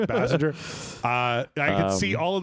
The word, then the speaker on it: Basinger: How do you say Basinger? Bassinger.